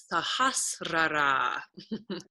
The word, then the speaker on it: Sahasrara: heard it pronounced is sahasrara yeah that's a hard one it sounds nothing like it's spelled crown of so this